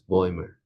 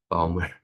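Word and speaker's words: Bäumer: I learned that it's this is pronounced as boymer not balmer.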